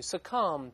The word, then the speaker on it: succumb: to 等于 submit to，还可以用 bow to 鞠躬这个词，还可以用书面语 succumb to 这个 b 不发音，怎么说过对吧？屈服于、服从于都可以。咱们再看看这个六级阅读真题的片段，这个看看怎么翻译啊？他说：On January。I had to officiate two funerals on successive days for two elderly women in my community.